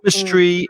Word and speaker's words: chemistry: why architect exactly and chemistry is a word i constantly hear mispronounced by spanish speakers that's ch i hear chemistry very often or chemist it's k it's a hardcore chemist and one thing about